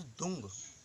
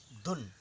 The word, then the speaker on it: दुं: इसे अष्टाक्षरी मंत्र कहा जाता है, लेकिन कुछ लोग इसे दुम बोलते हैं, कुछ दुंग। ऐसा नहीं, दू आधा न, धुन, DUN, इस तरीके से इसका उच्चारण करें।